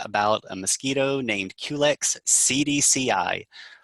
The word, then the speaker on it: cedecei: So how appropriate is it that we start off today's call by talking about a mosquito named Culex CDCI, pronounced CDCI, and this is named in honor of the Centers for Disease Control and Prevention.